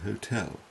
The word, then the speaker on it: hotel: them as we said both are acceptable though it is preferable to use the sounded h as keeping the french silent h can seem rather affected now listen to a